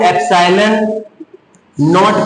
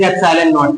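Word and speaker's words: epsilon naught: तो अब बात ये है कि इसको सबसे पहले तो प्रोनाउंसिएशन में इसमें कभी कभी प्रॉब्लम आती है। इसको एप्सिलॉन नॉट कहा जाता है, दिस इज एप्सिलॉन नॉट।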